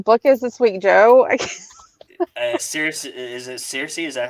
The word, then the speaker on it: Circe: Circe, is it Circe? Is that how you say it? Yeah, it is Circe.